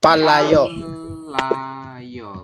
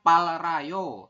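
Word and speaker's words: 팔려요: y robun silakan palayo palayoo betul ya tulisannya Pal Rayo tapi kita Bacanya adalah palayo seperti itu kemudian ada lagi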